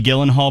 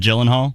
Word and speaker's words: Gyllenhaal: it gyllenhaal or gyllenhaal personally it could be guillen hall but the whole world has just accepted gyllenhaal oh yeah all right